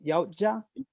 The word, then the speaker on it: Yautja: Which, how do you pronounce the band? Yautja.